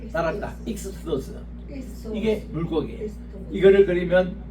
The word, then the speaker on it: ΙΧΘΥΣ: 그리 물고기를 그리면 따라합시다 익수스 익수스 익스 소스 예이 발음이 익스고 소스입니다 따랐다 익소스 이게 물고기 이거를 그러면